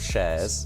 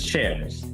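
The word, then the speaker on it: ShAIres: AI in the middle of shares.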